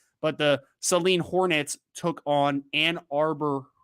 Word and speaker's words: Saline: he and his uh i was told it was saline is how you pronounce it so i apologize for saying saline in the past but the celine hornets took on ann